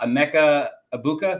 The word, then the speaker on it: Emeka Egbuka: Uh Amecha Ibuka, right?